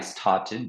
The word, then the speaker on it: started: effectivement c'est un ed mais n'oublie pas que la prononciation c'est ID ok oui donc là tu l'as bien dit directement I started donc la prononciation c'est